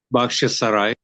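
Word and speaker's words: Bakhchysarai: Bakhshisarai.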